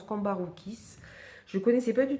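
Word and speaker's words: Cambourakis: Alors c'est de Anna Cavon et c'est aux éditions, je ne connaissais pas cette maison d'édition, édition Cambaroukis, comme ça se prononce, Cambaroukis.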